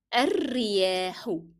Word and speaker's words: الرياح: What happens is that I moved from the dhamma on del in the previous word, which is تشتد, to ra directly. That's because alif will not be pronounced because it is preceded by a vowel, and lam will not be pronounced as well because it is followed by a shadda letter. And don't forget to stress on ra.